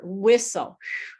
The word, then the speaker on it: whistle: And even crazier, whistle. Whistle. There's there's two, three silent letters.